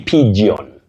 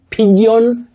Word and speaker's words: pigeon: When you talk about that bird, don't say pigeon. Pigeon, no. You say pigeon.